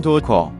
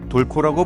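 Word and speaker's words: Dorco: 사실 알파벳으로 보면 알겠지만 도르코 또는 도코, 돌코라고 불러야 함에도 도르코라고 부르는 것은 도르코 측도 발음이 잘못된 거 알긴 아는데 너무나도 도르코란 이름이 알려져 이젠 바꿀 수도 없게 되었다고 한다.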